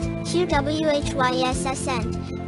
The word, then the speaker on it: quiescent: To be quiescent, pronounced QWHYSSent, is to be quiet, resting, which is exactly follow its Latin origin.